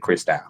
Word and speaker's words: Christou: I sang gospel so it's spelled Christ o you but um I pronounce it crystal um and you can find me Chris out on everything.